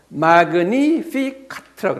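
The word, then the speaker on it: Magnificat: 마그니피카트라고 그래요.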